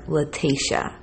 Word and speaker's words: Lateche: on news nation and it sounded to me like she was calling her latasha so i wanted to correct that because i don't want